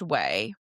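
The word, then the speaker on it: Ouai: So it's pronounced way and I wondered I got confused but it's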